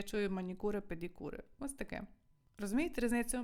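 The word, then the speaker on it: manicure: я вимовляю манікюр педкюр але італійці як вимовлять Ану давайте почитайте мені скажіть в голос Я вас чую так вони кажуть манікури педікури Ну то що є що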